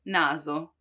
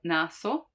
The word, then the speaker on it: naso: in between two vowels when the s is in between two vowels like in naso naso nose naso you see it's not naso which would be the s from sorella sorella sister but not television which